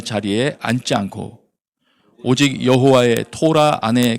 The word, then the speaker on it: 토라: 이 원래 단어는 토라죠. 원래 발음으로 하면 토라.